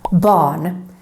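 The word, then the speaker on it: barn: r is silent and if the r is followed by an n it's totally gone for example in this word bon bon is how is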